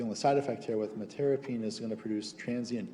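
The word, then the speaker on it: metyrapone: Metirapine, no, it's metirapine. Metirapine is how it's pronounced.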